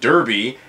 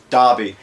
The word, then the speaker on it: Derby: 2 years ago, I went to this same store, and afterwards, I said it was pronounced Derby, and it was pronounced Darby.